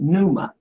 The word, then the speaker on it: pneuma: I think you pronounce it pneuma.